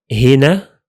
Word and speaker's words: هنا: So we say he, هنا, هنا, and هناك, هناك.